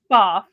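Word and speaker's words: Pfaff: It's pronounced FAF. A lot of people do call it FAF. But I used to work for the company, and it is FAF.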